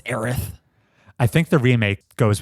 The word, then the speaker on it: Aerith: And you have to wait to find out whether or not it's pronounced Mako. I thought you were going to say whether it's Aerith or Eris. It's Aerith.